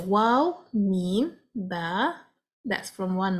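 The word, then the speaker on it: و: For the letter waw, we need to round and encircle our lips to pronounce it. Wow, the lips will contract.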